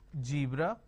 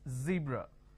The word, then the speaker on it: zebra: make a mistake is they replace the z with a ju so what they do is they pronounce this as jibra john so please don't make a mistake the moment you replace the serve with a jar it's a mispronunciation it's not jibra it's zebra it's not john it